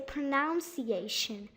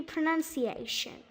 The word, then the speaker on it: pronunciation: notice that sometimes that there is no o between the first n and the u so they kind of say pronunciation but it should be pronunciation pronunciation okay now our